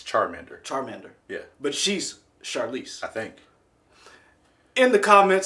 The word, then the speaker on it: Charlize: you say your name what did you say charlie's the wrong charlize is it true i thought it was a shar char charlize like charmander yeah no because that's charmander